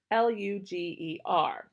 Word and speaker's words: Lueger: Karl is spelled Karl, Lueger, Luger.